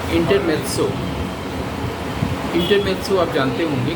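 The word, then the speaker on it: intermezzo: वो उस ऐसी इंटरल्यूड को जो उससे असंबंधित लगे, छोटा सा पीस हो, उसको संगीत में इंटरमेत्सो बोलते हैं, जबकि त की है नहीं स्पेलिंग में, MEZZO, इंटरमेत्सो।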